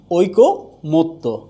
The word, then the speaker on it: ঐকমত্য: তাহলে হচ্ছে যে ঐকমত্য হবে ওই কো মত্ত। তাহলে উচ্চারণটা হচ্ছে ঐকমত্য।